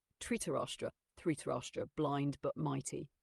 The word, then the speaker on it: Dhritarashtra: Okay, architect, let's continue with the life of Dhritarashtra, Pandu, and Vidura, if I'm saying it right.